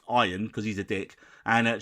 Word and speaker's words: Ian: Now, season 1 dealt with the power clash between McElhenney's Ian, pronounced Iron, because he's a dick, and Charlotte Nichol's lead programmer, Poppy Lee.